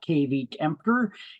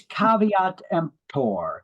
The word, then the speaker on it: caveat emptor: the offer so Caveat Emptor that's how you pronounce that term it's not K empor it's caveat empor it's Latin it means let the buyer beware